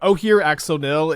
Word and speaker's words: Ojer Axonil: I looked at pronunciation to make sure I was pronouncing this right, but Ojer Axonil is like maybe my favorite Magic card name ever.